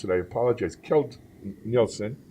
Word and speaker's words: Keld Nielsen: here at sing 2018 it's and if I mispronounce that I apologize kilt Nielsen it's perfect really Jeff is the manager of